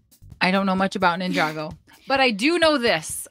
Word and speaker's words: Ninjago: don't know much about Ninjago but I do know this I had to look this up because I didn't want to say it wrong is it Ninjago or Ninjago Ninjago it is Ninjago yep so I used